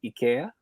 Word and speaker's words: Ikea: was told then that the actual uh pronunciation of Ikea is Ikea okay okay yeah so you